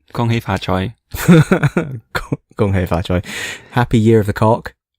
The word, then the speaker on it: gung hay fat choy: not terrible english accent hong hay fat choy gung hay fat choy happy year of a roll